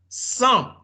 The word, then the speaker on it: sans: Sans, no sans, non. Esa à la fin, on ne prononce pas.